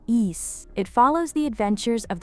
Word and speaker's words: Ys: For those unfamiliar with why, it's a fantastic long-running series of action role- playinging games pronounced east.